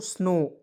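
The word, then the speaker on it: snow: तो इसे पढ़ेंगे दोस्तों स्नो एस से आधा स एन से न ओ है दोस्तों उसका उच्चारण ओ के रूप में स्नो एस एन ओ डब्लू स्नो डब्लू को यहां पे साइलेंट रखना है स्नो स्नो स्नो यह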